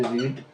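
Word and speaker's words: read: भी verb three भी spelling एक ही होगा प्रोनाउंसिएशन हमारा चेंज हो जाएगा वर्ब वन में रीड बोलेंगे स्पेलिंग यही रहेगा वर्ब टू में स्पेलिंग यही रहेगा उसको रेड बोलेंगे वर्ब थ्री में स्पेलिंग यही रहेगा आपको इसको भी रेड बोलना है उसके बाद में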